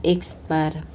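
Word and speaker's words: x̄: Ini bacanya X bar.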